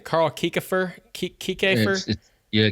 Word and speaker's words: Kiekhaefer: And if I'm not mistaken, maybe you can tell me how to pronounce this guy's name. Carl Kiekhaefer? Kiekhaefer? Yeah, Kiekhaefer.